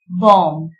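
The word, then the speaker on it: bomb: Letter B எப்பெல்லாம் சைலண்டா வரும்னா வார்த்தையோட கடைசியில பி வந்து எம்மோட சேர்ந்து வரும்போது பி வந்து சைலண்ட் லெட்டரா இருக்குது. கோம், பாம், தம், நம், லிம் இந்த மாதிரி வார்த்தையோட கடைசியில பி எம்மோட சேர்ந்து வரும்போது சைலண்டா வரும்.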